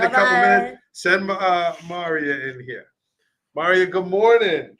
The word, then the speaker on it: Mariyah: This is youngest sister Mariyah, not Yes. Maria.